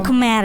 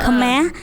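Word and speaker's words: Khmer: keme oke keme keme kita mungkin bacanya kemer Ya kemeh jadi di sana itu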